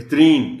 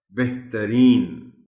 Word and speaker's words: بہترین: استعمال کر جاتے ہیں۔ بہترین کہتے ہیں ہم، جو غلط ہے۔ بہترین، تے پر زبر کو نمایاں کر کے پڑھا جانا چاہیے۔ متعارف، محترم ٹیچر میں